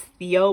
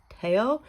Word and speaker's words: Theo: I hope I said that correctly because I know it's I know it's Theo, but he pronounces it Teao from P1 Harmony.